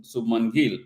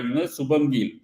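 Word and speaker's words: Shubman Gill: and it was a Subman Gill, right? And I just realized that so far I was, pronouncing his name incorrect by, Subham Gill.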